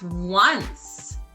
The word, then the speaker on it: once: learn this word once so it makes the soft c sound which sounds like an s once that's our word